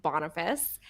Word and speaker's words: Boniface: server was named Boniface, spelled like bonefish, but is pronounced Boniface.